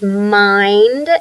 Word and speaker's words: mind: Now here's mind, and it ends with ND. And so we say the blend at the end of a syllable, we will try to make a long I, just like child, ILD.